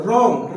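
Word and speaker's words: wrong: रोंग right लेकिन डब्लू यहां पर लिखना जरूरी है। मतलब अगर डब्लू के बाद अगर आर आता है उस जगह पर जाकर डब्लू साइलेंट हो जाता है।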